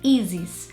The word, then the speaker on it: Ysis: British people call me, but my name is spelled like this, and in Brazil people call me Ysis.